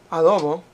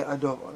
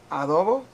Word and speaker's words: adobo: My favorite, what I grew up on, adobo, pronounced adobo, but spelled adobo. You'll hear people say adobo. That's actually not the way you're supposed to pronounce it. Just so you know, it's adobo. Okay, anybody who speaks Spanish or pretends to speak Spanish like me would know that.